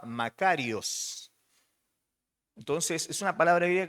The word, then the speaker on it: makarios: palabra griega que se que originalmente se escribía y se pronunciaba macarios Entonces es una palabra